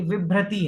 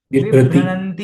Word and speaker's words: विभ्रति: न कहीं नहीं है ये विभ्रति है विभती नहीं है ठीक है विभ्रति पूर्व ठीक है।